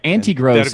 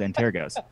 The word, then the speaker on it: Antergos: Like for example, the Antergos. Like a lot of people say all kinds of weird things. Yes. Antigros is the most popular. The anti-gross There goes- is weird.